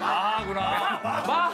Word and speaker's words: Mach: Vì vậy, "ch" được phát âm giống như một "k."